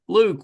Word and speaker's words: Luk: Today I've got actress, comedian Luke with me. So, welcome. Thank you, Michael. Thank you for pronouncing my name right on the first try.